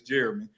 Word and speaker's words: Jeremy: My name is Jeremy, but y'all can't never pronounce my damn name right, but it's Jeremy.